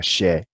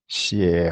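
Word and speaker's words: HRI: How do you pronounce H-R-I, right, or but it's a single syllable. So most of the time, in Asia, whether Chinese or Tibetans, they kind of all pronounce this like a she.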